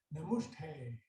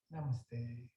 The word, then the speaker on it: namaste: welcomes you with a namushtay and you hang back after class to correct the pronunciation hi excuse me it's namaste thank you you might